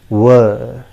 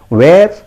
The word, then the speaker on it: were: understand fine no issues the correct pronunciation is ver it is repeat after me it is pronounced as wer simple it is pronounced as wer if you pronounce it where i am very sorry